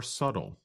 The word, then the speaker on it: subtle: But other differences are more subtle. That's spelled S-U-B-T-L-E. But we do not pronounce the letter B in the word.